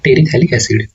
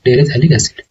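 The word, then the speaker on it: terephthalic acid: और जो इसका कॉमन नेम है, कॉमन नेम आएगा इसका टेरिथैलिक एसिड। सो TERE साइलेंट होता है, थैलिक एसिड।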